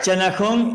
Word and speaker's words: Channahon: Vive en la ciudad de Channahon, ¿se pronuncia? Así se pronuncia, sí señor. Channahon, en el estado de Illinois, y en Estados